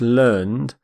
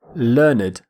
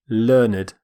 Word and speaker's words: learned: is actually pronounced it you might think it's pronounced learned but that's how we pronounce the verb when it's used as an adjective we say learned learned we actually pronounce the e d d ending